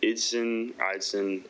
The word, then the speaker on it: Idson: All right, Idon. Hey, welcome. Hey. Um, yeah. Good evening. Uh, my name is Idson. Everyone, it's okay. Everyone mispronounces it.